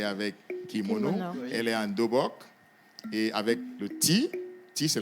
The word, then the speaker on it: dobok: Et je vais j'aimerais d'abord dire tout ceci qu'aujourd'hui vous avez vu Oan pas un kimono mais en Dobok premièrement d'accord en langue coréenne on dit dobok qui s'écrit D o b o k d b